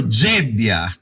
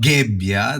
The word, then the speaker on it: Gebbia: So Gebbia, not Gebbia, that's the Italian pronunciation of your last name, right? American would say Gebbia.